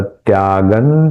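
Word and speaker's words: त्यागं: यहां पे देखिए मैंने न का उच्चारण किया। यहां ख का उच्चारण स्लाइट स्मॉल साउंड ऑफ ख विल कम हियर। सर्व कर्म फल त्यागन यह अनुस्वार का उच्चारण न के जैसे किया क्योंकि आगे त है त थ द ध न त वर्ग का अनुनासिक न है इसलिए इस अनुस्वार का उच्चारण न के जैसा होगा।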